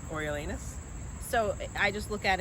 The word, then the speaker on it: Coriolanus: I think it's Coriolanus. So I just look at it and I say Cornelius because that makes sense to me.